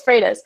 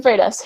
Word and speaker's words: Freitas: it's pretty frustrated yeah it's not how you phonetically pronounce it in either option but it's Freitas it's in Freitas who um has had